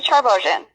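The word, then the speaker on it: Charbogian: My name is Charbosen. How do you spell that?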